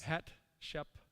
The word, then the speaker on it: Hatshepsut: mother of Moses, and how do you pronounce it? It's Hatshepsut.